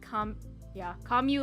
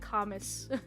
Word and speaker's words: Camus: I tend to pronounce Camus like Kamu like Camus. Yeah, it should be Kamu.